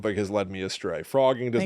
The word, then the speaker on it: phrogging: The word is pronounced like the animal frog, though it begins with a PH.